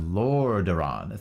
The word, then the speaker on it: Lordaeron: It's pronounced Lordaeron.